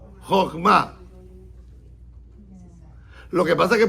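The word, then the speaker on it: חכמה: Porque para decir sabiduría tiene que decir, no en hebreo, Jochma, no Jochma, no, Jochma, con acento en la última A. Jochma.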